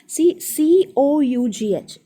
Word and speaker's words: cough: COUGH നമ്മുടെ ചുമയ്ക്ക് it's called കോഫ്.